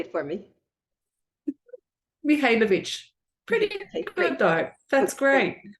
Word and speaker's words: Mihajlovic: Today, we have with us, and I don't want to murder your name, Mihajlovic. Spell it, say it for me. Mihajlovic.